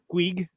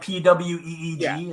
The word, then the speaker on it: Puig: I think it's Puig. Puig, like PWEEG is sort of the pronunciation.